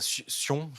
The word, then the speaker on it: Sion: dévoilé euh l'été dernier sa Sion ou sa Sionne si on veut prononcer à l'anglaise euh qui a voilà